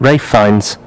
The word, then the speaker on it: Ralph Fiennes: pronounce his name right I think it's Rafe isn't it ray Fiennes is it I don't know I always say Rafe oh okay he looks